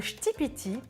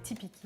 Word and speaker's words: ktipiti: Le shtipiti. Je viens d'apprendre la prononciation, avant je disais tipiki ou tipiki, enfin bref. Merci au passage à Keliakos, grâce à toi je sais maintenant le prononcer correctement.